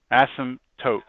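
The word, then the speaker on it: asymptote: say it I mean the p is silent asmt to yeah if you say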